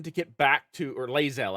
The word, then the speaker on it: Lae'zel: get back to or lazel I guess is technically how you pronounce it not liel but uh uh he's